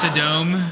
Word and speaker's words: Sodom: It's pronounced Sodom.